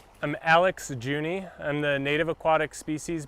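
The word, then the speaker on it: Jouney: Could could you say your name and spell it for us, too? Yeah. What's your name? I'm Alex Juny.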